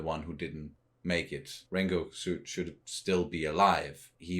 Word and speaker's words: Rengoku: there between Sabito and Rengoku. I'm sorry, I'm trying to say it the way where you don't pronounce the U at the end.